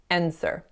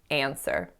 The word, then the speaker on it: answer: the same idea so typically I would say this as an app with a bit of nasality because of that n however in this case i incorrectly said n sir and sir but it should be answer the next mistake that